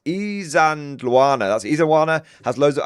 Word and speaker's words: Isandlwana: It's Isandlwana. That's Isandlwana. Has loads of, I can never pronounce it.